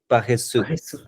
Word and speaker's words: paresseux: There were some words which kind of like I think like you forgot the exact word, like lazy would be paresseux. Paresseux. Okay, that's pronunciation.